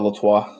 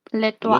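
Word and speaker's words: L'Étoile: Yeah, Hotel Latois. It's Hotel L'Etoile. L'Etoile. You gotta say it with a mouthful of cotton balls.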